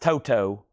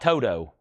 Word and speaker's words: Toto: It's pronounced Toto. That's a quote from me. VG plus 750. Toto. Not Toto. Not Toto.